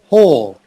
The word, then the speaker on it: whole: only have one try whole oh so the h knows that w is silent so it's pronounced exactly the same as a hole in the ground earth earth earth art